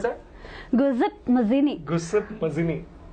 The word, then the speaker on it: Giuseppe Mazzini: Giuseppe Mazzini wanted unification of which country, Abhishek?